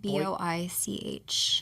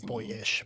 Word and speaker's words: Boich: house — and then Boich Winery. How do you spell it? B-O-I-C-H. Thank you. I thought like “boyish,” but Boich.